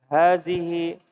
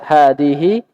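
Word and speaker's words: هذه: Hazihi ummi yasirun. Ya, hadihi Ummi yasirun.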